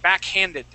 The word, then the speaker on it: backhanded: backgrounded backed backhanded backhanded make sure to pronounce that H backhanded backhanded good okay all right